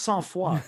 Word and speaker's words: sang-froid: It's pronounced Sans Foi, but it's spelt sang-Froid.